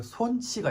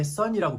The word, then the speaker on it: 손: son처럼 생겨가지고 처음에 son이라고 부를 수도 있어요. 제가 최애하는 축구 선수가 손흥민인데 영국 사람들이 다 son이라고 불러요. 하지만 제대로 발음하기를 원하면 그냥 손 rhymes with bone, tone, cone 이렇게 얘기해주면 발음할 수가 있습니다.